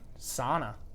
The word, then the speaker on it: sauna: use that finished pronunciation oftentimes the sana pronunciation wins out because that is the the Americanized pronunciation of that particular word yeah I can make